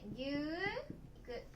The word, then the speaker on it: 牛肉: の肉、肉と書いて牛肉、ね、牛肉と言います。